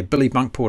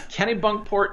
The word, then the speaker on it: Kennebunkport: is that it yeah billy bunkport have i pronounced it right this time kenny bunkport yeah okay other than the first letter you got it yeah kennebunkport maine i've done it's